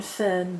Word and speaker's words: Fearn: Written Fearn but it's pronounced Fearn, although there are different pronunciations given, but that seems the most frequent and reputable.